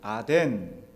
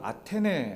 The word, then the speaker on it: 아테네: 지금에 이제 그리스인 그리스의 최대 도시는 아덴 우리 요즘의 발음으로는 아테네 아테네 아테네이고 두 번째 도시가 데살로니카